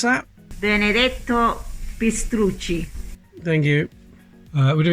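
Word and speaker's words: Benedetto Pistrucci: pronounce his name properly enzza how do you pronounce that benedetto pist thank you uh would have been made on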